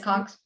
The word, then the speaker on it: Hiscox: Hiscox.